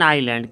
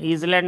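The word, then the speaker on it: island: Sri Lanka is एन आइलैंड, क्यों आइलैंड, ईजलैंड नहीं पढ़ेंगे, आइलैंड है तो आई से शुरू, आ से शुरू हुआ इसलिए आइलैंड।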